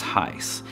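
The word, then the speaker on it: εἷς: Now, the words one and unity here are the same Greek word and is pronounced heis.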